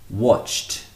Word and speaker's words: watched: Watch finishes with the ch. Therefore, it takes on a t sound, the t sound. T. Watch becomes watched. Watched. I watched a movie last night. The same goes for walk. Walk ends in a k sound. Walk conjugated becomes walked. Walked. T. It still has that t sound, not an ed sound.